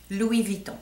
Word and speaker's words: Louis Vuitton: real oh Lou Von v vuon v Von Louis Von yes I was going to do a video